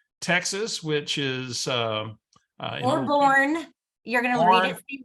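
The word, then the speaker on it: Boerne: She's actually in Bernie, Texas, which is or born.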